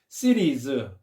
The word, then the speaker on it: cities: cities, 도시들인데 이때 t 발음을 리을 발음으로 많이 한다는 거. 미국 사람들이 cities인데 cities 이렇게 발음한다는 거.